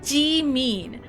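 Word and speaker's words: Jimin: to a Korean name, instead of gene, you get Jimn. And it's like that's not his name. Jimn is not his name. It's de mean.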